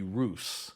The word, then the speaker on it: Rus: of Sweden these Vikings were known as the Roose that's spelled r USU they explored and settled along